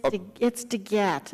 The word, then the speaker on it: DeGette: DeJette was just referencing in Medicare that we have a public... With the gentleman, it's DeGette, and everybody's, including the president, has been saying it wrong, so I just like...